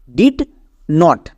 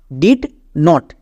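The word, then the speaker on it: didn't: ডিড নট ডিড নট। এবার একে যখন আমরা একসঙ্গে উচ্চারণ করতে যাব তখন এর উচ্চারণটা হয়ে যাবে ডিডেন্ট।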